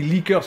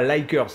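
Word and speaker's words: Lickers: Les leakers, alors moi je pense qu'on dit leakers, on dit pas likers, hein, parce que je pense qu'il s'appelle leakers, puisque ça s'écrit L-I-C-K-E-R-S, du fait qu'ils ont une grande langue, comme s'ils léchaient les gens.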